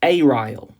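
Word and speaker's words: aryl: by an alkyle or ariel group sometimes pronounced aille.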